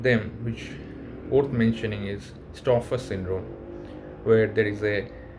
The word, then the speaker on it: Stauffer: One of them, which worth mentioning, is Stauffer syndrome, where there is a liver dysfunction is seen in these patients of the renal cell carcinoma.